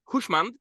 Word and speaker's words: Hooshmand: Today, I'm very lucky to welcome Hooshmand, and please correct me if my pronunciation is not correct, That's correct.